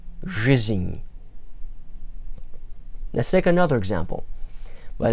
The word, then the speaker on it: жизнь: In Russian, when you see a cluster of consonants one after another, pronounce each consonant in the order that you see them. So in this case, жизнь. And with that enye, without that enye, it would be жизнь. But with that symbol at the end, жизнь.